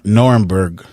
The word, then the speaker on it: Nuremberg: How do you pronounce it? Nor Nuremberg.